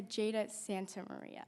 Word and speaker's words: Jada Santa Maria: It My name is Jada Santa Maria. Santa is abbreviated so people butcher it a lot, but thank you for being here.